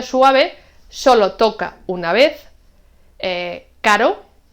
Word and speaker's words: caro: Con el sonido suave solo toca una vez, caro, y con el sonido fuerte rebota, toca varias veces, 2, 3, 4, etc. Carro.